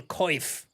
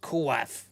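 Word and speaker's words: coif: That was his the comeback chain mail kif. I wonder is the chain mail better than the skate helmet? Maybe it's it might be heavier. 5 kg. Good luck. It's pronounced kuf.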